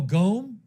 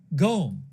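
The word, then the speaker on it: Qom: Oh, in Farsy, I guess it would be pronounced comb. Qo M would be pronounced comb. Comb. I'll go with comb. Oh, Goome. Hold on. It's pronounced Goome. Gome is how to pronounce it.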